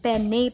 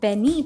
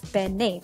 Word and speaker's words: penne: is this cylindrical shaped pasta and it is pronounced as the penne pasta a lot of people mispronounce it as penne pasta but it is pronounced as penne pasta the word penne is derived from the